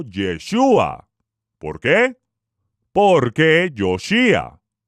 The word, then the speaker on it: Yeshúa: dado por el todopoderoso no por el nombre dado por los griegos los españoles o por aquellos que pronuncian mal la letra j el todopoderoso envió mensajero a la tierra con la instrucción divina de llamarlo yeshua porque porque yo si